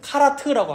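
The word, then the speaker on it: כרת: 그래서 여러분 이 언약을 맺다, 여기서도 지금 3절에서도 더불어 언약을 맺었으며 할 때 이 맺다라는 단어를 히브리어로 보면 카라트라고 합니다. 카라트, 히브리어로 카라트라고 발음해요.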